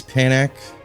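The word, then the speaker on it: Panache: I was mentioning earlier this is panac right it's like kind of like panic but pan instead again American sorry yeah it's definitely Panic anyways pronunciation aside uh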